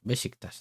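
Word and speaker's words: Beşiktaş: People say Bashiktas and all that. Bashiktas, that's how you say it.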